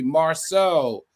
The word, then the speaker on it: Marceau: I mispronounced Marceau, so it should be Marceau. Al, it's pronounced Marceau. Is that correct?